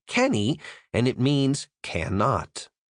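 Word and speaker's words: canae: C a n a e is pronounced like cany and it means cannot.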